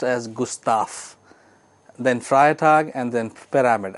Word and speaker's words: Gustav: g s t a v but it is pronounced as Gustaf then frag and then pyramid and this is